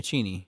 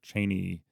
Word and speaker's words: Cheney: where he said listen when you pronounce my name it's chy and the Press kind of went along with it but they kind of reverted back to their Cheney MH uh default and